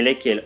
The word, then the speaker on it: lesquelles: Attention s'il vous plaît, dans les pronoms lesquels au masculin et lesquels au féminin, le S au milieu ne se prononce pas.